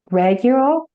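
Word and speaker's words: Ragul: my my angels, but Archangel um Regiel, I'm pronouncing that through is coming up for you. What is his name? Regul.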